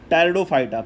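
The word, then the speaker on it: Pteridophyta: सबसे पहला था एल्गा, दूसरा था ब्रायोफाइटा, तीसरा था टेरिडोफाइटा, पी साइलेंट होता है।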